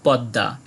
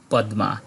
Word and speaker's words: পদ্মা: ঠিক এমন হয় না যেমন যদি আমরা বলি প দয় ময় আকার আমরা বলি পদ্মা এখানে দ টাকে দৃত্ত উচ্চারণ করা হচ্ছে কিন্তু এই প দয়ম আকার যদি কোন সংস্কৃত গ্রন্থে আমরা পাই তাহলে এর উচ্চারণ আমরা করব পদ্মা এ থেকে আমরা বুঝতে